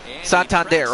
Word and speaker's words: Santander: Santander, okay, that's how you pronounce his name.